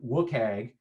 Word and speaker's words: WCAG: So that's how all of the requirements in WCAG, which is how we pronounce the Web Content Accessibility Guidelines, are organized.